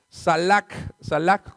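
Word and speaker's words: סלח: Ahora bien, la palabra perdón es la palabra hebrea en el Antiguo Testamento, salak con K de kilo y J al último, acento en la A, con ese salak.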